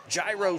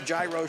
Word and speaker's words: gyro: Eat healthy, eat great food, eat at the Gyro Shop at the food court in the Oxford Valley Mall. Retro Fitness, Shop Right. The Hero Shop. I would call it Gyro, but I think it's pronounced Euro I Shop.